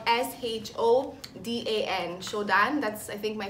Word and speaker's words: Shodan: So I think my favorite sushi restaurant would have to be Shodan, and it's downtown, so it's spelled S-H-O-D-A-N, Shodan.